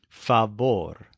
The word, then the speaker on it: favor: word favor but it's pronounced with a stress on the second syllable fabor this is a masculine